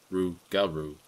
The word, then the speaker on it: rougarou: the old legends of the rougarou which is pronounced rougarou I told my grandpa about what had happened